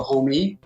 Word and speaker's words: HOMEE: That long mark over the E signifies the long E, so it's a HOMEE, and it looks like a garage as well.